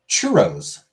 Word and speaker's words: churros: Churros. Churros. Churros. Churros. Got to roll that R.